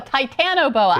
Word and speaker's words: Titanoboa: Delaware do you know what that is the Titanoboa I said it wrong measuring 48t long and